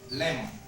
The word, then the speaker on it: lemon: For example, in this case, lemon is a word that has two syllables. And where is stress? This word, lemon, for example, it's not in this part, but it can be in this part. Lemon.